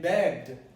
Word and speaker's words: begged: And E and begged spells B-E-G-G-E-D. But you don't pronounce the E in the past of beg, which is begged, not begged.